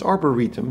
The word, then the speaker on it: Arboretum: So it's Arboretum, now I know how to pronounce that.